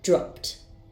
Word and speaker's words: dropped: First, I have the verb drop. Its sound ends in p, so the ed ending will be pronounced as t. Dropped, dropped.